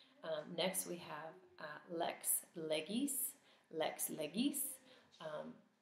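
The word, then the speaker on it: legis: next we have Lex leis Lex leis um ecclesiastical pronunciation would be Lex leg um in case you hear that recognize that g can be different depending on pronunciation but we will learn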